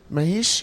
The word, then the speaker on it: Mahesh: Mahesh, I'm pronouncing that correctly?